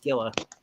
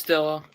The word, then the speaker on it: Scylla: Her name is, I believe, pronounced Skilla. Yeah, it's Skilla. Yeah, Skilla does have a